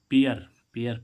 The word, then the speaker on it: pair: पी ए आई आर, ए आई के बाद क्या आ रहा है? आर, तो इसका उच्चारण क्या होगा? ए आर। पेयर, पेयर means क्या होता है?